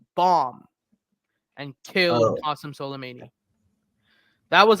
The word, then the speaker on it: Soleimani: Qasem Soleimani. That was like Repeat his name again. Khomeini was What's what? his name? How do you pronounce his name? Qasim Solem Soleimani.